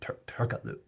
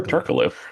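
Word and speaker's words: Türkoğlu: basketball reference is saying you don't say the the the G Turkaloo tur Turkaloo Turkaloo is a legend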